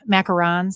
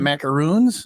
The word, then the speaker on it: macaron: and all sorts of macarons I've been saying them wrong my whole life um and then they're not macaroons no they're been saying it wrong my life van Go's